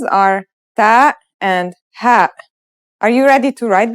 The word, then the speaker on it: ه: Let's start with our first letter, ha. This letter sounds just like the English H, and it should be very easy to pronounce.